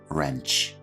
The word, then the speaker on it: wrench: grip for the pronunciation it's important to remember that the W here is silent pipe wrench next up we